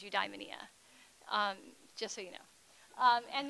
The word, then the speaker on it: eudaimonia: studies professor and so the Greek way of saying is you die Minea just so you know